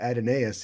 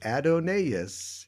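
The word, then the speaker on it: Adonais: he is dead ah if you don't say it adonaius you don't get ten beats or five beats uh in that line i see they say at an as 37 more times in the in the entire poem wouldn't work yeah if it wasn't adenaes so okay well there you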